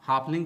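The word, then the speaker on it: half: दोस्तों, यहां ए के बाद साइलेंट लेटर एल आता है। इस प्रकार से आप हाफलिंग का भी स्पेलिंग लिख लेते हैं। दोस्तों, यहां ध्यान देने वाली बात यह है कि आपको सिर्फ यह याद रखना है कि हाफ में एफ से पहले एल साइलेंट लेटर आता है।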